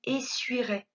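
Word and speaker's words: essuierais: la terminaison kms mais lorsque l'on va le dire on va boire que on ne prononce pas le son il ya de la lettre y donc conjuguant leurs au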